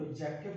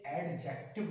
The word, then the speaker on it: adjective: Silent कर सकते हैं, तो वो साइलेंट होता है डी, इसे एडजेक्टिव नहीं बोलते, इसको बोलते हैं एडजेक्टिव।